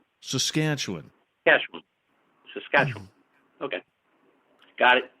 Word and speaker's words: Saskatchewan: it first you got to learn how to pronounce it saskatchewan saskatchewan saskatchewan yesterday saskatchewan okay got it yes so i